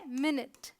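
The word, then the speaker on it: minute: मिनट। इसकी सही pronunciation होती है ये, मिनट।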